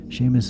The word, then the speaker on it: Seamus: Seamus is spelled S-E-A-M, like seam, and then us. Seam and us, Brother Seamus. That's Gaelic. In the Gaelic language, S-E's and S-I's are the same as an S-H.